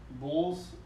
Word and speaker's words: boules: This last one I got was a set of bowls. So it's kind of like the French version of bocce. Boules. B-O-U-L-E-S. Okay. Is how it's spelled, but bowls.